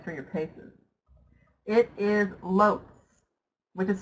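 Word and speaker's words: Loetz: putting you guys through your Paces it is LS which is spelled l o e t z LS now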